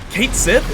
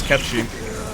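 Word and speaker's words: Cait Sith: Kate Sith? It's Ketchi.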